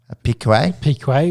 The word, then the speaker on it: Piquet: Piquet, which is technically his father-in-law.